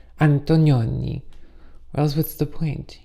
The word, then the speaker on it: Antonioni: I remember seeing The Red Desert by Antonioni, and you really have to say it like that. Antonioni.